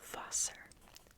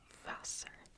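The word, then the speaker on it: Wasser: and that is Das vaser dasas remember that the the W is pronounced like a V dos foser foser voser if you want sparkling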